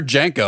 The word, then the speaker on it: JNCO: pronounce jnco I I I used to hear it jenko yeah they're jenko all right yeah they're jeny